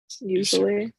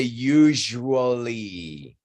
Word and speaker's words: usually: Usually. I want to say just one thing. That word normally, when it's in context, is pronounced very shortly. People don't say usually.